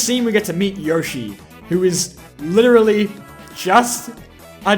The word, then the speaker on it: Yoshi: Yoshi, not Yoshi. I knew that's how you pronounced it.